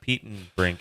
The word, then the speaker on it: Petenbrink: Petenbrink. It's like Pete in Brink.